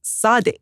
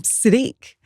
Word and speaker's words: Sadiq: London, who told me that his name is Sadiq. Yeah, that's right. But at school, they called him Sid. And so it kind of became Siddiq.